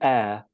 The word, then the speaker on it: heir: And then personally, so we can say Prince William is the heir to the British throne. And it's a homophone with the word heir. Okay, so you don't pronounce the H.